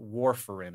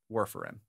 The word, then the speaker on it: warfarin: rat poison yes what warfarin is how it's pronounced according to this on the on the Wikipedia page Worf like Lieutenant Commander of the enterprise yes so that's how